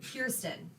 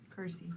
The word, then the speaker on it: Kirsty: Okay, Kirsten. Kirsty. Kirsty. Kirsty, like as an alley. Kirsty. Kirsty. Kirsty. There's no T.